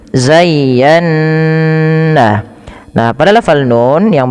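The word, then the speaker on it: زَيَّنَّا: Cara membacanya yang pertama ya dilembutkan zayya baru ditekan lagi ke nun zayyan.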